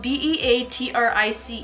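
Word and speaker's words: Beatričė: my name is spelled be-a-tri-ce and it has some accents which don't exist in English but do it Lithuanian in Lituanian it is pronounced bea-tri-ce but when I came to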